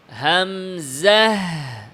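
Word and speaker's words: همزة: বলি বলা হয় আচ্ছা তাহলে আমরা হামজাটাকে উচ্চারণ পড়ি হামজাহ হামজা জাহ জাহ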